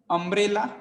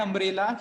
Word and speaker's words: umbrella: Then again, umbrella, an umbrella, here also people have to understand it begins with u but pronunciation is with o. Okay, so it is with sound o is vowel sound, that's why an umbrella.